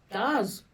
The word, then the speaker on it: Darz: Darz. Darz Music. Yeah, like it rhymes with the stars. With a D.